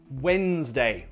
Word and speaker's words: Wednesday: What's the day after Tuesday? Wednesday, Wednesday. We don't say Wednesday, no, Wednesday.